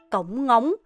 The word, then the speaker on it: cổng ngóng: 여기서 생각보다 발음이 진짜 어려운 부분이 어떤 거냐면 cổng ngóng 이거예요. 왜냐면 우리나라로 이렇게 입을 2번 다무는 게 사실 쉽지가 않고 한국에서는 굉장히 어색한 발음이에요.